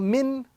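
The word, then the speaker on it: مِن: Here again we have two words, meme, noon, sukun kasra min.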